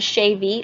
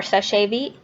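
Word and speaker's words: Seche Vite: top coat which is the shave or sasit different people pronounce it different ways you get this for a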